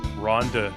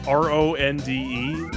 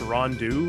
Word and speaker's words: Ronde: Well, it's Ronde. It says it's pronounced Rondu according to the back of the box, but I don't know. Not They might have Ronde? been talking out their ass.